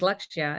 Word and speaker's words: Lakshya: and we named her lakshya and it's that we spell it laksha l-a-k-s-h-a but really the word is lecture and it means focus